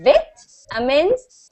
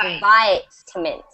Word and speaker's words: vitamin: So in the UK, the VIT is pronounced vitamins, and in American, it is pronounced vitamins.